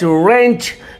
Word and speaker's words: wrench: देखिए WRENCH रेंच, देखिए यहाँ पे W साइलेंट है, रेंच पढ़ेंगे, रेंच रेंच रेंच रेंच